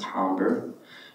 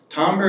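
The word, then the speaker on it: timbre: that's spelled t-i-m-e-r-e or timber sometimes but it's pronounced tomber tomber is not the same as frequency response sombra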